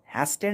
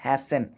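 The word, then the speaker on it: hasten: फिर एक वर्ड आया है हैसेंट, इसको पढ़ते हैं हैसेंट, हैस्टेंट नहीं हैसेंट पढ़ते हैं। अक्सर लोग हैस्टेंट पढ़ते हैं, मैं भी पढ़ देता हूँ कई बार बेध्यानी में, लेकिन इसका करेक्ट प्रोनाउंसिएशन होता है हैसन, यानी कि तेजी से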